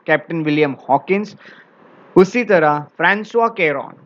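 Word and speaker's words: François: इसे फ्रांसुआ कहा जाता है. सो ये वर्ड फ्रैंकोइस दिखता है बट इसको फ्रांसुआ कहा जाता है.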